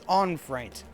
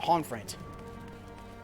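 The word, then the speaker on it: Honoroit: Oh, he pronounces Onfraint. Not Honfraint.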